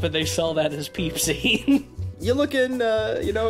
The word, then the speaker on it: Pepsi: episode is brought to you by peepsie spelled p-e-p-s-i but not it's not pepsi it's peepsy it's spelled the same but you got to pronounce